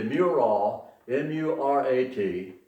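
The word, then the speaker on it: Murat: Oxford's mailing address was Muraw, Virginia, until rural free delivery came in the 1920s, allowing mailboxes all along busy highways and roadsides. How did the Muraw, M-U-R-A-T, how did the Muraw post office acquire its unusual name?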